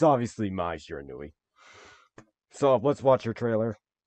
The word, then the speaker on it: Shiranui: Shiranui. So, before, my dad was talking about this, so the way he pronounced it was like Sharona, which reminded me of this like one song, which was Mai Shiranui.